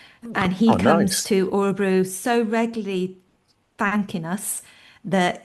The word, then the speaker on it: Örebro: Udebrow. It's about Or 40 kilometers from Stockholm. Am I right in saying that? yeah, it's Örebro, and I can we're never sort pronounce of it. Örebro.